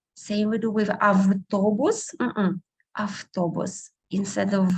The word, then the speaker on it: автобус: Same we do with автобус, автобус. Instead of v, we most often pronounce f.